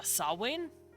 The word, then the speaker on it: Samhain: calendar is concerned uh which is uh sawwain i'm sure we all know that word it's spelled s-a-m-h-a samhain i'm sure you've heard